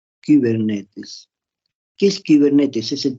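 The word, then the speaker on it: κυβερνήτης: Cibernética proviene del término kibernetes, un término griego, con K, Y, kibernetes. Se pronuncia esa I, se pronuncia como una U francesa, y kibernetes.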